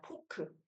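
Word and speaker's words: フォーク: 포크. 포크. 어, 스테이크 찔러 먹는 그 포크를 일본식 발음으로는 포크. 이런 식으로 읽어요. 앞에 있는 후에다가 작은 오가 와서 후오 작게 툭 던지는 느낌으로 포크 요렇게 읽습니다.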